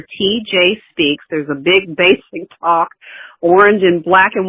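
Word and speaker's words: Baysick: There's a big Basic Talk orange and black and white banner behind my head on Facebook.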